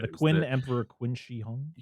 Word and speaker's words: Qin Shi Huang: I hope I'm pronouncing this right. The Qin Emperor Qin Shi Huang. Qin Shi Huang.